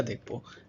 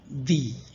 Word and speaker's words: the: Article দিয়ে আমরা একটা নির্দিষ্ট করি এ এন্ড দি। আমরা এ এন্ড দি কি বলি? এন দি সাধারণত আমরা এই যে দায়ের উচ্চারণটা একটু মাথায় রাখতে পারি। এটা হচ্ছে যে যদি ভাওয়েলের পূর্বে আসে তার উচ্চারণ হবে দি।